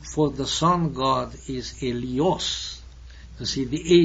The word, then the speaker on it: Helios: And the ancient Greek name for the sun god is Helios. You see, the H, Helios, the H is not pronounced in Greek.